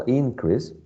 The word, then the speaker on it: increase: there was a small increase increase okay increase so i would say that a it's the first syllable the one that is stressed the first one there was a